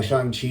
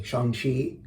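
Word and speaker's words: Shang-Chi: review like i saw sean chi i'm gonna say it properly shanghi two weeks ago hated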